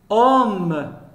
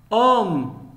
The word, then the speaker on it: homme: veut voir le h le h ne se prononcent pas exemple homme homme un homme hirondelles hirondelles